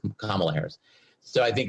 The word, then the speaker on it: Kamala: Kamala Harris, sorry, I keep mispronouncing your name. Kamala Harris.